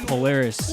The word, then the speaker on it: Polaris: Polaris.